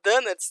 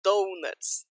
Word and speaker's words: donuts: você esteja falando inglês, se você falar donuts, não vão te entender. Já teve 1000 situações de pessoas que foram comprar donuts e falaram donuts, achando que estavam arrasando na pronúncia e não conseguiram o que elas queriam. É donuts, ok? Now, how do you spell schedule?